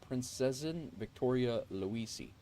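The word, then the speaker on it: Prinzessin Victoria Luise: Alantha says the plane I'm flying is named the Princesian Victoria Luis, pronounced Princesin Victoria Luisi.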